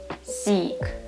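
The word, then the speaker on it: сік: Okay, next combination will be C, and the final is also k. Let's combine it. How do you say it? Seek, seek, which means juice.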